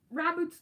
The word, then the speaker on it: Raboot: real uh raboot um RAB boot's the best of this line oh I said it right okay good I've been